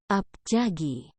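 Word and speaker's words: 앞차기: depan dalam bahasa Korea disebut abjadia cara bacanya abjan Ji tendangan biasa disebut janji-janji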